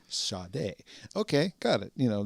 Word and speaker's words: Sade: And in the case of like a Sade, on her first album, they had like a pronouncer right on the spine of the CD, like Sade.